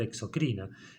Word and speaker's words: exocrina: sensibles es decir que esta palabra debería sonar exocrina y esta palabra endocrina porque no lleva acento escrito ninguna de las dos